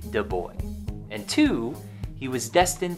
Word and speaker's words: de Broglie: number one he was destined to have his name mispronounced for probably his whole life but definitely after his life louis de boy and two he was